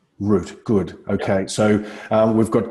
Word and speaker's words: Rutte: And the correct pronunciation of your surname, is it Rutte or Root? Root, like a tree. Root, good.